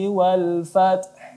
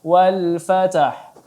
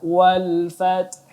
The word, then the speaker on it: fath: Ya, kita baca idza jaa nasrullahi wal fath. Ya, tidak dibaca wal fatah, tetapi kita baca wal fath.